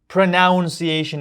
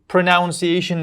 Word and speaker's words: pronunciation: O'sha pronunciationagi so'zi boshini no soʻzi bor deb o'ylashadi. Pronoun deb bo'lishadida tushonsizmi? Yana boshqa noto'g'ri talaffus qilish yo'llari bordir. Lekin meni hozir mi ham kelgani shu pronounciation deb talaffus qilishadi.